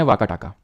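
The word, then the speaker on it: वाकाटक: तरह से indirect control वाका टाका में किसका चला गया वैसे इसको वकाटक प्रोनाउंस करते हैं ठीक है वकाटक का तो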